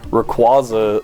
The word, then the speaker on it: Rayquaza: when I was younger I think we said Ray Ray quasa it was really painful Rayquaza Rayquaza is the widely accepted one but I think that Rey it's Rayquaza Ray quasi not quasa